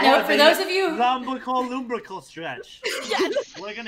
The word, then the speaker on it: lumbrical: For everyone that wants to know how to say this, it's called the lumbrical stretch.